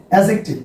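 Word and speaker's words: adjective: টি আই বি ই, অ্যাডজেক্টিভ। Dear viewers, এটা কিন্তু অ্যাডজেক্টিভ উচ্চারণ হবে না, উচ্চারণ হবে অ্যাডজেক্টিভ।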